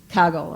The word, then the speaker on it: Kaggle: and take a look at, I'm going to pronounce it wrong, Anthony, is it Kaggle or Kaggle? Kaggle, okay.